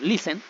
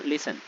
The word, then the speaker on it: listen: de pronunciar esta palabra, no decimos nosotros listen, sino listen. Es decir, que el acento de voz, la acentuación está acá. Entonces, por esta razón, nosotros no vamos a doblar esa N.